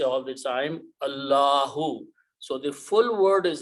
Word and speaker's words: Allahu: When we say Allahu Akbar, we say full word. But if this word is at the end, we do not pronounce this dhamma, Subhanallah or Alhamdulillah.